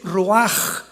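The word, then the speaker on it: ruach: La palabra para espíritu en el hebreo es la palabra que es roaj, que se escribe ru con ch. Pero repito, ese pronuncio pronuncia como J.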